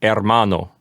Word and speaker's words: hermano: an age in Spanish you'll never pronounce it you'll just pretend like it's not there right that's correct so instead of saying hermano we would say hermano yes always silent okay